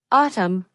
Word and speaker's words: autumn: The word autumn has a silent N. We never pronounce it. So it sounds like autumn.